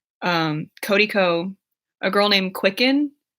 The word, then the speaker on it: QCKND: My favorite YouTubers are Drew Gooden, Danny Gonzalez, Cody Ko, a girl named Quicken. It's spelled QCKND.